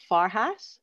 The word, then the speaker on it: Farhat: Next up, we have Rob Farhat. Did I pronounce that properly? Yeah, like a hat that's far away.